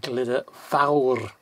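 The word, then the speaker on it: Glyder Fawr: you've got glitter valve don't forget that oh you've got an ah on the end of a Welsh word you you've got a sort of uh you've gotta get that ah that roll out so it's glitter vah and glitter vowel vowel which is f-a-w-r but don't forget the old it's like I called it the old rev in the motorbike so it's glitter back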